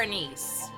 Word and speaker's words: anise: like cinnamon and star anise. Anis, not anise. I always pronounce that wrong. It's anis.